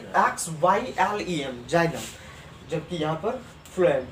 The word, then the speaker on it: xylem: जाइलम का English spelling XYLEM, जाइलम, जबकि यहाँ पर फ्लोएम।